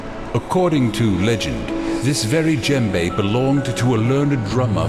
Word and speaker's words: djembe: According to legend, this very djembe belonged to a learned drummer from Senegal who can speak with the dead by rhythmically beating it. The D is silent.